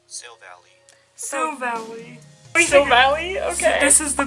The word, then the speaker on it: Silvally: Silvally. Silvally? Okay. This is the pronunciation right here.